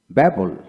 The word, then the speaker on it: babble: কোনো ওয়ার্ড এ দুটি বি থাকলে প্রথম বি নীরব থাকে, দ্যাট মিনস সাইলেন্ট হবে, উচ্চারণ হবে না, সাইলেন্স থাকবে। লক্ষ্য করেন, ব্যাবল ব্যাবল BABBLE, ব্যাবল ব্যাবল, ডেবল ডেবল,